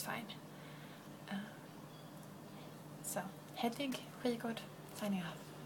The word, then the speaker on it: Hedvig Skigård: So if you want to pronounce my name is pronounced Hedvig Skigård. If you want to say Skigard or a Hedwig or a Jadviga or a Sheer Farm, probably wouldn't remember to